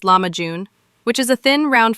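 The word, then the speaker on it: lahmacun: most commonly refers to lakun, pronounced lamajun, which is a thin round flatbread topped with a flavorful minced meat and vegetable mixture.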